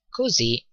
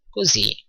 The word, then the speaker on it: così: : "così così" again così così "E tu?" notice that the "s" in così is pronounced like "z" ok but if things